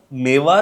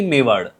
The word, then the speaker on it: मेवाड: सांगितल्या तर पहिला प्रश्न मेवा की मेवाड तर जेव्हा लिहितोय इंग्लिश मध्ये मेवा आर आहे बट the pronunciation originally मेवाड आहे म्हणजे आपल्यासाठी मेवाड मेवाड मेवाड empire trail first of